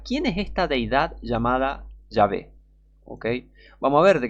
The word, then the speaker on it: Yahvé: Algunos afirman dogmáticamente que el tetragramaton hebreo Yod-Heh-Vav-Heh, se pronunciaba originalmente Yahvé. Otros dicen que debería traducirse como Yahvé, Yao o Yaho.